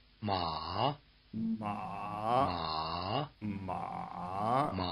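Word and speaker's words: 马: Notice that the tone mark captures at least the dipping contour if not the low pitch.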